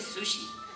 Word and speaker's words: sushi: Chuchi de estos dice no se dice Chuchi se dice Sushi digo a ver di